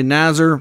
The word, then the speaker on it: Nazar: I've seen some call him Nazar. Some say Nazar. I think Nazar is the proper way to pronounce this last name here.